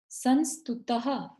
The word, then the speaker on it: संस्तुतः: यह विसर्ग है यहाँ पर, तो ह की ध्वनि आनी चाहिए। यह संस्तुतः सकल वांग्मय तत्वबोधा।